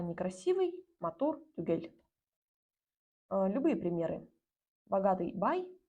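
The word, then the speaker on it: түгел: На записи оно выглядит вот так вот и читается как тюгель. Я бы, конечно, поставила сюда мягкий знак, но оригинально его там нету.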